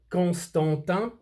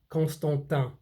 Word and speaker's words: Constantin: You don't say the N at the end of Vacheron, and you don't say the N at the end of the Constantin. Constantin, Vacheron, Constantin.